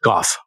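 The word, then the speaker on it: Gough: How is that pronounced? Goff.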